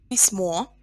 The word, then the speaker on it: письмо: Письмо, o is stressed. Письма, here e is stressed. So our stress goes back in plural.